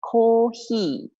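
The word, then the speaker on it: コーヒー: How do I pronounce coffee? Coffee is the same. It's kōhi. Kōhi.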